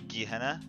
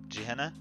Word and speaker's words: Gehenna: I've heard it was called I stolen are pronounces Gehenna Gehenna and this it was so creepy I loved